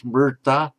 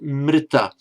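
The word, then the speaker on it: mṛta: My own view, shared with a number of scholars, a lot more learned than I am, is that it was a r sound, mrta. In modern India, it's almost invariably pronounced as if it's written as an ordinary consonant r followed by vowel e. So if a modern, say, Hindi speaker were pronouncing this word, he would say not mrta but mrita.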